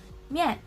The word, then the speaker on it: 面: So the Mandarin term for noodles is 面, 面. Just like the fourth word that is rou, it also has the fourth tone. So we're gonna pronounce it as 面, 面, 面.